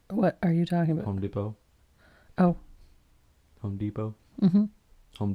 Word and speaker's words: Depot: I guess I have to go check out Home Depot. Home Depot. Why have the T there? If you're not gonna use it, shouldn't be there. What are you talking about? Home Depot.